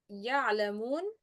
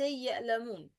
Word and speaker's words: يعلمون: Pronouncing the ain as if it's همزة. يعلمون. This is common mistake for non-Arab people especially when produce همزة instead of عين. يعني they say يألمون يألمون not يعلمون.